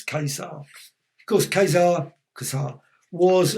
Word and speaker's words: Ka-Zar: as well not gaza i was called kazaar kaisar apparently it says pronounce kaiser of course khazar kaza